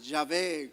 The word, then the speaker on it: Yahvé: Jehová, Yahvé, como querramos pronunciarlo.